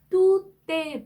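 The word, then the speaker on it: tout est: 앞에서 연음이 된 거죠 연음이 되면서 또 때 물렁 이렇게 때 발음이 살아나는 경우입니다 뚜떼 블랑 이렇게 읽으셔야 돼요 블랑 또 나왔죠 블랑은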